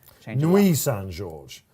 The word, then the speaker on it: Nuit St George: Nuit St George is just about third favourite, 5.2, hopefully for David Minutier. Nuit Saint George, Knight.